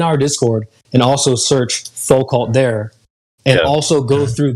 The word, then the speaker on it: Foucault: I don't know its name, but there's a pendulum, or whatever it's pronounced. Foucault.